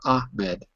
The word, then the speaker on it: Ahmed: Am I pronouncing your name correctly? Is it Ahmed or Ahmed?